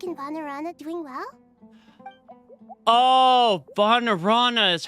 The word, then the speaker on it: Vanarana: Oh, Vanarana is how you pronounce that.